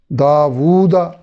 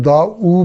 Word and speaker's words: داوود: او تو اوتینا قولو توبو ذوقو داوودا داوودا. یہ غلط تلفظ کے طور پہ ہم دا او بول دیتے ہیں، یہ دا وو ہوگا.